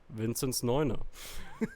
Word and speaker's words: Vinzneuner: Narrated by Vinzneuner.